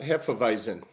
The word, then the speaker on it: hefeweizen: This is apricot hefeweizen.